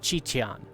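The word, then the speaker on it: Qitian: So QI in Chinese is Chi, and then you would pronounce the Tian as Tian. So it's Chichan.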